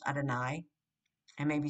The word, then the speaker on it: Adonai: in the actual prayer the divine name is pronounced adonai and may be spelled